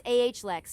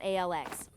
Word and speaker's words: Alex: It's AHLEX, not ALX.